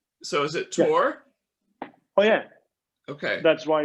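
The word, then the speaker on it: Tor: say th the they say so is it tour oh yeah okay that's why it's called t-o-r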